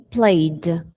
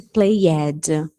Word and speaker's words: played: Play, played. Nada de played. Esquece esse ed. É o D só. Vai pronunciar só o D.